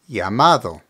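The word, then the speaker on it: llamado: over two more words the first one is yamad which means called remember the dou L in Spanish is pronounced like the English y so here we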